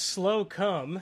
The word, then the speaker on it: Slocum: dnd uh then there's slocum i think he meant shout out yep yeah shootout you got it man it's pronounced slow come yes try being 13